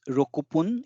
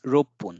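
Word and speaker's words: 六分: similarly for rope it's Roku Pun It's it it's not Roku pun although it's six it's rope bone so there is a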